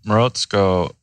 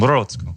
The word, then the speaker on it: Morozko: Yeah, so Morozko, which is the way I pronounce it. I haven't really heard very many Russians, native. write in and tell us. Yeah. Morozko. Sounds right. Yeah. I try to say it with a Russian accent.